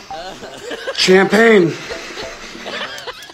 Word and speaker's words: champagne: Which means this word is champagne. No. What did I say about French words? It's French.